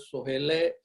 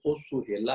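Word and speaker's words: ਸੋਹਿਲਾ: पर ओ सुहेला है, ये सोहेला है। सो पढ़न वेले प्रोनाउंस करन वेले ये देखना है, जिहड़ी इहदा होड़ा है उहनूं होड़ा ही अनाउंस करना है।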